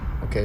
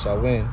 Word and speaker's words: Samhain: In modern times, Samhain, a Gaelic word pronounced Samhain, we've been saying it wrong this whole time, it's Samhain, is usually celebrated from